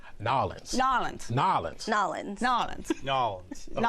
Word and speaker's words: N'awlins: Okay, we got to first talk about pronunciation of New Orleans. Yes. Give me yours. Nolans.